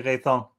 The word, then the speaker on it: Rethans: a fun thing because it's originally raythong but in dutch we say reasons or